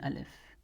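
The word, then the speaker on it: ألف: along with it an alif, but it'll for the most part be just a silent letter that we don't pronounce until we stop on it, and that's when this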